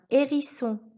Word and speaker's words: hérisson: Le H ne se prononce pas quand il est en début de mot. Exemple, un hérisson, le haricot.